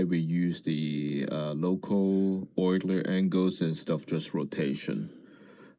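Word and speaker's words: Euler: So what is pronounced oiler angles?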